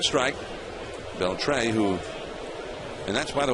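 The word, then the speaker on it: Beltré: Beltre, who, and that's, by the way, a lot of people pronounce that name differently, but he pronounces it Beltre with the accent on the final syllable.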